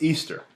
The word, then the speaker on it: Ishtar: Semiramis became known as Ishtar, which is pronounced Easter, and her moon egg became known as Ishtar's egg.